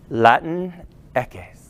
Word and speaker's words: Latinx: x in english though spanish pronunciation of latin and x can combine into a smooth watch this white boy do it latin eques yeah the mexican beer